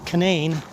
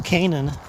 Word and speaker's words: Canaan: And then when I get over to Canaan Valley State Park, that's how they pronounce it here, is Canaan, as opposed to Canaan.